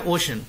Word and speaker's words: ocean: देखिए नॉर्मली इसको बच्चे ओशियन पढ़ते हैं, OCEAN, इसका सही प्रोनाउंसिएशन है ओशन।